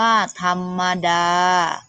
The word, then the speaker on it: ธรรมดา: กรรมการ แม่ อ่าน ว่า กรรมการ ธรรมดา อ่าน ว่า ธรรมดา วัน คณะ คดี อ่าน ว่า วรรณคดี อุปสรรค อ่าน